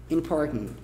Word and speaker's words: important: Uma pronúncia americana bem Nova York. Important. Important. Em que você pega isso aqui e meio que engole. Important. Como se fosse um G no fundo da garganta, assim, é bem bizarro de explicar esse som aqui.